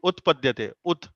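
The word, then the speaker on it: उत्पद्यते: Should you pronounce Utpadyate or Rut, Bhakti Bhakti Rup. Rutpadyate? Okay, Utpadyate. The T Okay, sound or the T sound should be there.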